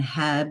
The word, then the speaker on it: HEB: have like Publix and Heb and stuff like that. HEB. I know that's how you say it, but renew Walmart Plus membership.